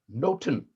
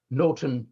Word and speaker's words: nothing: N-O-T-H-I-N-G was pronounced noten, but N-O-T-I-N-G, noting, taking note of, or back then eavesdropping, the core of the plot, was also pronounced noten. So much ado about noten nothing, much ado about noten eavesdropping.